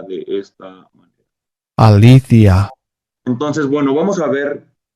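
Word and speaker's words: ἀλήθεια: bueno justicia es esta adiquía y verdad se pronuncia de esta Alicia entonces Bueno vamos a ver aquí como aplica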